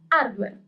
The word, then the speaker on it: hardware: Hardware in Italian is hardware. We don't pronounce the letter H.